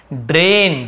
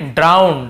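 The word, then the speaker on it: drown: ड्रेन, ड्रेन यानी होता है नाला। फिर ड्राउन, ड्राउन यानी होता है डूबना, है, ड्रोन नहीं पढ़ेंगे, ड्राउन पढ़ते हैं, ड्राउन यानी डूबना।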